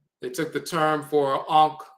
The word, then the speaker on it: ankh: took the term for Ankh, which is also written and pronounced Yonk and so forth, and they corrupted into, and this particular spelling is the Ionk or Yonk or Ionk spelling.